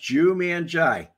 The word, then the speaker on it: Jumanji: It's pronounced Jumanji. Thank you for telling me. Now I know how to say it. Like the movie, Jumanji.